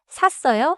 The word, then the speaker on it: 샀어요: 돈을 내고 샀으면 샀어요. In English, packed versus bought. 발음도 조심해요. 싸워요. Start stronger because it has 쌍시옷. 샀어요. Starts with 시옷.